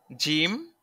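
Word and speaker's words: جيم: শুরুতে রয়েছে জিম, জিম জা, জিম জাহিম, জাহিম আছে শব্দ জাহিম। তো জিমের উচ্চারণ, জিম জিহ্বার মাঝখান হতে শক্তভাবে আদায় হবে, জিহ্বার মাঝখান হতে শক্তভাবে আদায় হবে।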